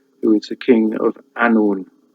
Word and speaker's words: Annwn: is the king of Annwn. W is pronounced as 2 O's, Annwn. So it's a vowel really in Welsh, which is why you